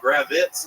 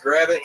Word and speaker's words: Gravit: All right, so my last name is Gravit, right? And people just kept pronouncing it incorrectly at the open mic. So they're adding like Z's on it, gravitates and I'm like, not Lenny. Just it's just Grait phonetically sound.